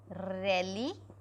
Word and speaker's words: religioso: Religious will be religioso. religioso, but it will be pronounced as, G will be pronounced as H.